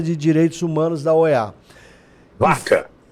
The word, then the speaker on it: Vaca: Direitos Humanos da OEA baca é vaca né que a pronúncia em espanhol é o Baca não aqui aqui é português Cláudio aqui é portuguê